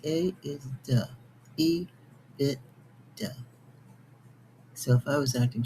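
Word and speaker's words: EBITDA: The bit I t is pronounced bit. And d a is duh. E bit. Duh.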